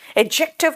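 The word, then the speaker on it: adjective: एडजेक्टिव का मतलब एडजेक्टिव नहीं बोल रही बेटा, वहां डी साइलेंट है।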